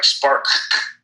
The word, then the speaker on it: SparkC: So if you really say it, you're going to be saying Spark. You know what I mean? If you wanted to be that technical with it. But the company is called Spark, and it's spelled with a capital C on the end.